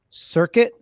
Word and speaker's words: Circuit: Circuit. Just like it's spelled, just like the word circuit.